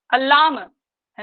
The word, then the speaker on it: अल्लामह: के बाद अल्लामह प्रभुदेवस्य, अल्लाम है ना, अल्लाम संस्कृत में अल्लाम है, एक शब्द एक साथ बोला गया, अल्लामह प्रभुदेवस्य। यहाँ पर प्रोनाउंसिएशन सही होना चाहिए, अल्लामह है ना, अल्लामह प्रभुदेवस्य घोड़ा चोली